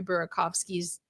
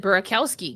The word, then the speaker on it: Burakovsky: could never get Andre Burakovsky's name right. I almost said Burakowski because I got so used to hearing Disco Dan say it wrong.